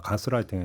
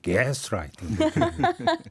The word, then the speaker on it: 가스라이팅: 네, 조금 전에 이 본토 발음 들어보니까 가스라이팅이 아니라 게스라이팅. 발음 이렇게 되는 거야.